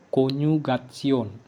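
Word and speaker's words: Konjugation: Jadi ini bacanya konyugat. No ain mal konyugatsion artinya konjugasi.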